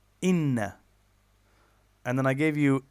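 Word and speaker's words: إِنَّ: Same thing, inna is long and short. Inna.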